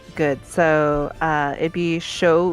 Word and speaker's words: Shu: that just sounds good so uh it'd be show ulami okay and so last name but last name gets pronounced first um and then ulami is u-l-a-m-i